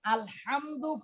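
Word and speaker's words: الحمد: সূরা ফাতিহার প্রথম যে লফজটা আমাদের সকলের মুখস্থ, আলহামদু, এই আলহামদু পড়তে হা যে হরফটা, এই হরফটা সিরিয়ালে জিমের পরে হা, এটা হলক থেকে আমাদের কণ্ঠনালীর মাঝখান থেকে উচ্চারণ করতে হয়।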